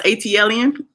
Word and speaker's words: ATLien: how do you pronounce ATL Ian ATL Ian ATL just like the ATL Airport ATL and I en is the is an alien so before all of